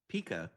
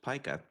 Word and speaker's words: pica: correctly cuz sometimes people think it should be Pika I don't know why but it is pronounced Pica I you know when I first heard it